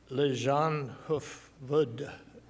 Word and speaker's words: Leijonhufvud: So our fourth speaker is Christina Leijonhufvud, which is easier to say in English. It means lion's head. And Christina said I could disclose that to you because I would botch up the Swedish pronunciation of her name, which I just did.